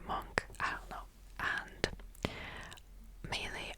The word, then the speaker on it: Munch: And then we went to the gallery of it's called, see I don't know people pronounce it as either munch or monk as I'm going to pronounce it as monk.